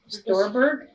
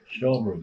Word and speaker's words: Stolberg: Storberg. Stolberg. Nan and Good Ted idea. Stolberg. You were brother and sister. Yes. They had the store there. How do you spell it? Storberg. Stolberg. S-T-O-L-R-B-E-R-G. No. Stolberg. Stolberg.